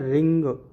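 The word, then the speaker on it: wring: ये है रिंग, W silent रहता है तो हम रिंग इस तरीके से बना सकते हैं।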